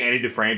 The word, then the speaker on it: Andy Dufresne: Andy Dufresne kind of I say anti-defrane because that's the only way I can say his name because Morgan Freeman says it like that too talking about my friend